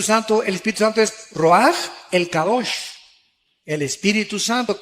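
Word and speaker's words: רוח: con r de Raúl a c h se pronuncia roag por ejemplo cuando hablamos del Espíritu Santo El Espíritu Santo es roag el kadosh el espíritu santo Cabos es Santo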